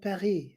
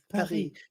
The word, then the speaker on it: Paris: 10 movies set in Paris. Yes, Paris. You don't pronounce the S if you're from France.